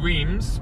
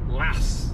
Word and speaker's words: Reims: We're going to go through Reims, or Las, as the French pronounce it, I think.